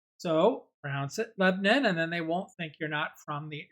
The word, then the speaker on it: Lebanon: pronounce this town most the people want to pronounce it Lebanon that are moving here and when I first moved to Nashville I was pronouncing it Lebanon and then someone told me it's lebin so prounce it Lebon and then they won't think you're not from